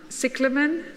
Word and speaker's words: Cyclamen: botanical word, and I will not attempt to pronounce it. Cyclamen?